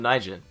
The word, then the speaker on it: Naijin: GM Naijin, who is going to be talking with us